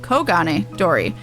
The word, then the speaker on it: Kogane Dori: That's not Kugane. Kogane Dori.